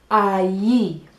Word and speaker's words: allí: the first one is ie it's spelt a ll I so the double L makes a yes sound and I love the